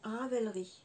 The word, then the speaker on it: Ravelry: raver lit j'ai toujours un souci pour la prononciation Ravelry voilà c'est ça comme ma conseillé Christelle je